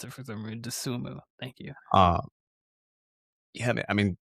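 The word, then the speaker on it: Dosunmu: I cannot pronounce it for some reason. Desumu.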